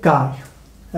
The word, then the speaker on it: chi: ना, ये देखो ये काय, इसका स्पेलिंग, इसको स्पेल ऐसे किया जाता है CHI। अभी इसको तुम लोग ची बोलो, की बोलो, काय बोलो, जो चाहिए वो बोल सकते हो।